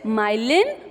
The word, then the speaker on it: myelin: You have to pronounce it correctly. It is myelin sheath.